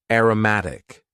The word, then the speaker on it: aromatic: Next, we had an adjective, aromatic. Aromatic. And please focus on the pronunciation here. Aroma as a noun. Aromatic.